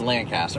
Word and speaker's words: Lancaster: I have changed my I'm done fighting people on how to pronounce this stupid City what about it is it is Lancaster I don't give a